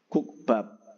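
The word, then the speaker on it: 국밥: Jadi yang pertama itu tidak dipecah, maksudnya tidak disuarakan dengan apa lain gitu ya. Tetap kukbab gitu ya.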